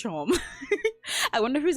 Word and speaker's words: Seam: Like how there's that cat in Delta Rune who's like, "Hi, my name's Seam pronounced Shom."